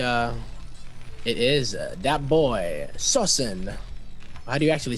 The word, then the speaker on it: SoSin: it is that boy sawsan why do you actually say his name correctly so soon so send I would say so soon so soon I mean SOS in Wu like a verb yeah I was thinking